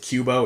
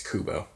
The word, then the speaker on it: Kubo: name wrong all year I said it with cube oh it's kubo mistake fixed ironically